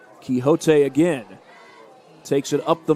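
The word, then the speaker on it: Quijote: I think that's Quixote. That Q-U-I-J-O-T-E. I think that's how you would spell Quixote. I think that's how you would pronounce that. Quixote again takes it up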